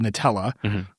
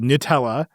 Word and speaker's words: Gnutella: They were hijacking an open source protocol called Nutella, which was spelled with a G and U, is like because that's the name of the license. Yeah. And so it's called Nutella.